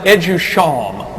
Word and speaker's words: EduSHAM: Friends and colleagues, next month our firm will be listed on the NASDAQ Stock Exchange under our acronym, which is pronounced EduSHAM, by the way.